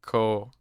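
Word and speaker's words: Khoo: name is k-h-o-o bars so that the h is silent cole that's probably why you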